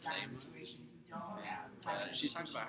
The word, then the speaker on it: Leymah: I thought it's interesting how her name is pronounced Leymah.